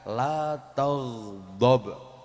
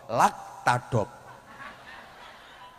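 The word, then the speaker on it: لا تغضب: Lihat, seperti ini misalnya. "La tagdob," lam alif ta ghain dod ba, tapi kamu membacanya sebagai "lakop." Ya, memang benar, itu bahasa Jepang. Padahal yang benar adalah " la tagdob."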